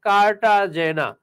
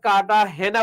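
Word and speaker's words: Cartagena: শহর শহরটার নাম হচ্ছে কাটাজেনা তো এই কাটাজে জেনারে স্প্যানিশ ভাষায় কাটা হেনা উচ্চারণ করে কেউ কেউ কাটা গেনা উচ্চারণ করে কেউ কেউ কাটাজে জেনা উচ্চারণ করে আবার প্রশ্নকর্তা বইয়ে লিখলো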